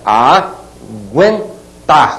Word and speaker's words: aguentar: sobre a letra U olhem bem aguentar Olha a pronúncia a guentar que que eu falei gu gu aguentar trema na letra U aquele u tá sendo pronunciado de maneira muito rápida né ó gu